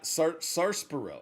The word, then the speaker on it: sarsaparilla: Yeah, everyone says sarsaparilla. Sarsaparilla? I don't, but the R is silent, right?